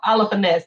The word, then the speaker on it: Holofernes: Holofernes. Yeah, Holofernes. Yeah, Holofernes. Yeah, there you go. Holofernes. There you go, because you don't pronounce the H.